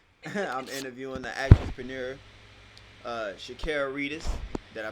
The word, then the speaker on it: Reedus: Looking at all the cameras, I'm interviewing the actress-preneur, Shakira Reedus. Did I pronounce that right?